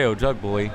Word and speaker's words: Ojugbele: How do you say it again? I say Ojugbole.